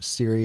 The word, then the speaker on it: Cirre: do yeah yeah so my name is Siri that's how I pronounce my last name I've heard all the